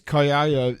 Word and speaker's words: Kaiser: You go, "It's Kaiser." So they call him Kaiser. Kaiser. That's how the Germans pronounce it.